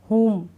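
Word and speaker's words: whom: पढ़ा ही नहीं जा रहा है, ठीक है, साइलेंट है इसमें। हुम, क्या है ये?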